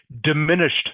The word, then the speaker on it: diminished: is the same okay the Ed D is pronounced just like a t Okay so diminished me can you say